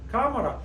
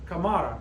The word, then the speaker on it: cámara: It should be pronounced, it ends in a vowel, it should be pronounced like camara, camara. Like the running back for the New Orleans Saints, Alvin camera. But no, it's cámara, cámara, cámara. Accent on the A.